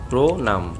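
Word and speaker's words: প্রণাম: ক শব্দের আদিতে তথা প্রথমে রফলা থাকলে উক্ত রফলাযুক্ত ব্যঞ্জন বর্ণের উচ্চারণ ও কারান্ত হয়। উদাহরণ দেখলে বিষয়টি স্পষ্ট হয়ে যায়। প্রনাম এর উচ্চারণ হবে প্রনাম।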